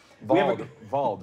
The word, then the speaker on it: Vald: Vald, right?